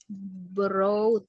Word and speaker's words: brought: Sama kayak brought ya. Itu verb to-nya dari bring. BROUGHT. broad ya cara bacanya. Broad, broad gitu ya.